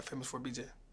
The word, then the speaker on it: FAMOUS4BJ: is famous with a number for BJ yeah famous for BJ do people mispronounce this um some people be trying to